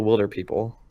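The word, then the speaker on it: Hunt for the Wilderpeople: because my favorite movie of last year was The Hunt for the Wilder People. It's pronounced Wilder, people.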